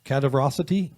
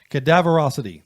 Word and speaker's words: Cadaverosity: behind that we played cadaverosity i don't want to that out cataverosity cataracity cadaverosity there you go cadaverosity say it right cadaverosity that sounds about right probably cadaverosity is the name